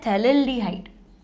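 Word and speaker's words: phthalaldehyde: था, तो ये है थैलेल्डिहाइड। इसको लिखते कैसे हैं हिंदी में, इसको लिखते हैं थैलेल्डिहाइड। हाँ, थैलेल्डिहाइड, ठीक है, पी से स्पेलिंग होगा ना, पी साइलेंट रहेगा, थैलेल्डिहाइड।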